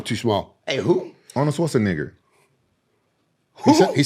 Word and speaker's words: Schwarzenegger: Arnold Schwarzenegger.